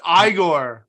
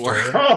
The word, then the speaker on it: Igor: It's not old It's pronounced Igor. monster. Igor.